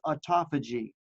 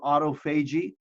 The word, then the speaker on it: autophagy: cleaning process that is known as autophagy or autophagy, however you'd like to pronounce it, and mitophagy or mitophagy.